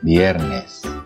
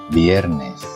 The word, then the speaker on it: viernes: susah untuk mengucapkannya ya, karena huruf V ini pengucapannya itu merupakan gabungan antara huruf V dan B. Jadi contohnya verde, viernes, ya, bukan verde atau verde, bukan viernes atau viernes, tapi verde, viernes.